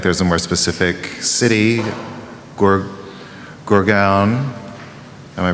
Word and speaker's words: Gurgaon: but I think there's a more specific city, Gurgaon. Am I pronouncing it right?